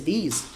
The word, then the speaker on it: these: Tem uma diferençazinha de pronúncia assim, olha só. This e these. Aqui, ó. This e these. Não é uma coisa tão fácil de perceber para quem está começando, mas você acaba pegando também.